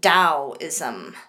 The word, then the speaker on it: Taoism: China is that of Taoism it sounds like I'm pronouncing it with a D but that's because of the emphasis on the T so it's almost like you pronounce it as Taoism but that's how we